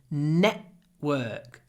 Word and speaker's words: network: tunnels under the city did you notice I said network network I use this glottal stop network network before a consonant before A W Network there's a network